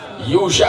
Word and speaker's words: یوشع: اور ایک میں جو لکھا ہے یشوع لکھا ہوا ہے, ہمارے یہاں وہ یوشع کہا جاتا ہے.